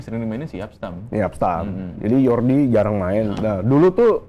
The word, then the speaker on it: Jordi: Belanda namanya depannya AG berarti berarti ini bacanya yorgi Ya yordi yordi grive yordi grive bukan Jordi ya bukan Jordi kalau Jordi nanti ini